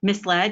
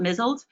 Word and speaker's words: misled: Do you stop and say, actually, that was misled, not mizzled? No, you let them continue to go.